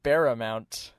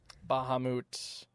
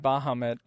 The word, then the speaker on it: Bahamut: I remember him pronouncing Bahamut Baramount. That's funny. You know, we pronounce Bahamut our way. Bahamut.